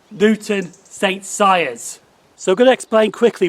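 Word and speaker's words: Newton St Cyres: pronounced that station wrong it's not newton's sake cries it's luke newton saint sires so i'm gonna explain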